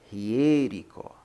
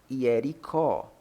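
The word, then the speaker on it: Ἱεριχώ: Aqui se pronuncia Hierico, Hierico, não Hiericó. Porque, como você pode ver,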